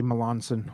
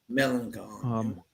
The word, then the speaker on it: Melancon: I don't know why I always say Melanson. I say it wrong every time, so my bad. Melancon.